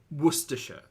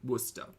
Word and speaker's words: Worcestershire: sorry sorry everyone's paying me out for my pronunciations hi welcome to the channel um Worcestershire there you go I'll put that in your pipe and enjoy it or if you want to get like real easy Worcester see I learned things it's all the chicken